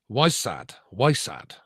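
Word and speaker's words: wysard: And again, uh the word wizard and this is a it's it's middle English and um would have been pronounced. Weissad W Y S A R D literally meaning a wise one male or female wise one and this is before so i.e.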